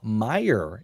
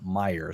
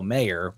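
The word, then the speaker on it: Mayer: Did you guys know Marcelo Meyer is actually how you say his last name even though it's spelled M A Y. It's actually pronounced Meyer. So, Marcelo Meyer is how you say it.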